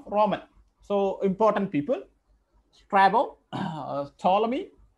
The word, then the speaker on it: Ptolemy: so important people sto toy p p is silent here t p t me